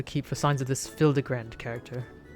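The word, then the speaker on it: Hildibrand: Since parting ways, I've searched every alley and dive bar and ever keep for signs of this Hildebrand character. It's pronounced Hildebrand.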